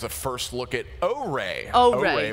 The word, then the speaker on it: Ori: Ori? And that was a first look at O-Ray. O-Ray, by the way, is how that's pronounced, if you were wondering.